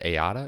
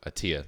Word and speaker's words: Attia: of happiness with Peter is it ayada is that how you say his name uh Peter attia oh see there you go attia that made me sound